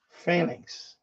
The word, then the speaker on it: Phalanx: Phalanx. That's how you pronounce it, Phalanx.